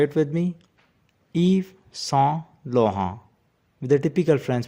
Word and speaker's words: Yves Saint Laurent: The S at the end of Eve is silent, and T at the end of Saint and Laurent is also silent. So say it with me, Yves Saint Laurent, with a typical French pronunciation.